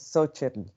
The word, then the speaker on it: Xochitl: But the word for little flower is Xochitl. And so it's pronounced like so instead of cho by some. Some people pronounce it cho. Some people are ho because the X is an actual H sound in other in Nahuatl as well.